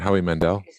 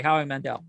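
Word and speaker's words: Howie Mandel: cursing in Bobby's voice is that hoe Mandel Howe Mandel sorry how Mandel I was I get names confused I knew I was saying it wrong it's not Jeff [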